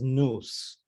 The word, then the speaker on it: nos: a clitic pronoun so it can't be stressed and so it's actually pronounced as noos instead of nos um and then um